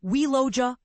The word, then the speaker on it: Ualloca: The newly identified species has been named ualloca minorum pronounced welloa kulminum.